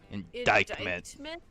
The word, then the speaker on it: indictment: Like, it's pronounced like dyke? Indictment.